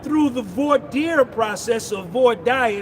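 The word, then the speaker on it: voir dire: the void process or void dire the way I like to say it. You don't tell me how to pronounce it. I say void dire that y'all picked and you lost.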